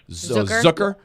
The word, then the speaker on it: Zucker: name it it's spelled Zucker they always had a little different pronunciation it's more like zook like hooker zooker um 32 years old